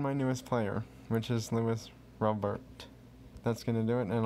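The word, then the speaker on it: Luis Robert: I believe his name is Lewis Robert is how you pronounce his name.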